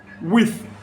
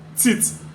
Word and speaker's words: with: So when I want to pronounce with, WITH, which is the same theta sound, we'll pronounce as t. So we'll say tit, or we'll say with instead of with.